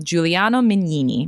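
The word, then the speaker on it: Giuliano Mignini: I don't want to mispronounce his name, so I won't Oh, yes. Yeah. Um, Juliano Mini.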